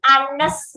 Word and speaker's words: honest: Letter H may be pronounced or not. Jadi huruf H itu kadang ada yang diucapkan, kadang ada yang enggak. Contohnya our, atas, itu hurufnya H semuanya kan. Tapi kita enggak baca H-nya kan, bacanya vowels.